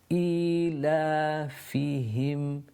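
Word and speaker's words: إِيلَافِهِمْ: إِلَافِهِمْ فِيهِمْ with the aha, the one that's pronounced from the bottom of the throat, and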